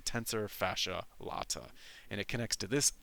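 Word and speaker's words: tensor fasciae latae: This is the tensor fascia latt. I've heard it pronounced a bunch of different ways. I think it's probably the best to pronounce it. The tensor fascia latt.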